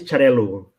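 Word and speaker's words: Xarel·lo: Catalan, why don't you tell everybody the exact pronunciation, and I'll talk about the spelling part of it. Sí. In Spanish is Xarel-lo in Spanish. In Catalan is Xarel-lo.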